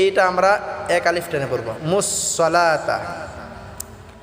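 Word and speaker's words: الصَّلَاةَ: এক আলিফ টেনে পড়বো মুসলাতা এখানে মুসলা ওয়াতা অনেকে বলে এখানে ওয়াটা পড়া যাবে না মুসলাতা লাটা আমরা এক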